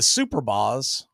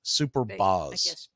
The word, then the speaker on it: Superbas: down below it's 2-0 b-a-s super boss superb as superbas maybe oh but even still one word okay superbas I don't know I always hear pronounced super boss but Superbus sounds more logical the 2-0 right there